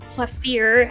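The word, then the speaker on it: Klavier: Clavier, actually, if you're to pronounce it in German.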